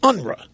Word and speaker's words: Unruh: by the name of Jesse Unruh or unra as Willie Brown pronounced it is the author